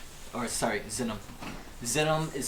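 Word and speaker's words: Xinum: one gold piece 100 gold piece equals one xenium or sorry xenom xenom is spelled X or I'll let I'll wait to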